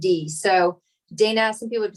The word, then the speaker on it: Dayna: So Dayna is Dayna, and is. So Dayna, some people would say, but that's kind of how it's spelled. So that's like just so you have like daytime, and then, like the land of knees.